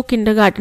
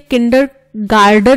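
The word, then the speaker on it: kindergarten: किंडर गार्डन नहीं होता, गार्टन होता है।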